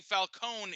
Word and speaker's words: Falcone: they're the same but apparently falcone is the right way of saying it like the entire nolan trilogy had said it wrong that makes sense i